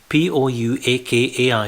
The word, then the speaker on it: Pouakai: P-O-U-A-K-A-I is pronounced Pouakai in Maori language, which is the muddy, marshy pools.